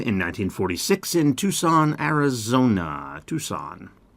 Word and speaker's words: Tucson: Tucson. Tucson. I know that's kind of weird, right? We don't pronounce the C there.